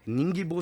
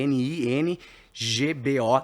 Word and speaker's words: Ningbo: Ningbo se escreve N i N GB O Ningbo, BRgoods.